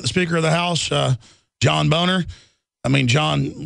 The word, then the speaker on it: Boehner: The Speaker of the House, John Boner. I mean, John, well, it is pronounced Boner. He tells us to say Boehner.